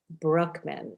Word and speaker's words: Brueckmann: an incredible guest today his name is alex brookman did i pronounce that correctly wonderful thank you he is